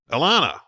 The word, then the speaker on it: Elana: it's easier to remember it rhymes with banana Elana is there any other